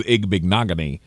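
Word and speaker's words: Igbinoghene: That was the only reason that we knew it was Igbignogany rather than I think we called him like Ibenajay for a while.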